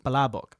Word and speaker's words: palabok: And does I love palabok make any more sense? Hey, do not insult my culture. I actually honestly forgot how to say it. Palabok.